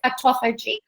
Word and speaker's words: autophagy: It's something that you've really written about, you've researched a lot about, and you're a real expert in, and that is autophagy.